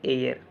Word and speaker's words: heir: एक ये वर्ड याद रखना है HEIR, इसका जो प्रोनाउंसिएशन होता है वो होता है एयर।